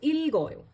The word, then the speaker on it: 읽어요: So, it becomes, when you are, now you pronounce it as ilgoyo.